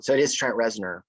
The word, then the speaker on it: Trent Reznor: at first i thought i was getting the name wrong so it is trent rezner right yeah and he was in a perfect